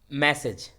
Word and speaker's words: massage: ठीक है, चलिए उसके बाद था आपको मैसेज, जो हम संदेश भेजते हैं, मैसेज, वो क्या है, मैसेज का स्पेलिंग क्या होगा, MESSAGE, मैसेज। और जो मैसेज, MASSAGE, उसको प्रोनाउंसिएशन क्या होता है, मसाज।